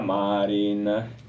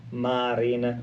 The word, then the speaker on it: Marin: E che si chiama Sanna Marin. Marin, non Marin, perché non è di San Donadif Piave. Sanna Marin, la streghetta. No, non essendo dell'Alto Veneto, è Sanna Marin, l'accento va sulla A.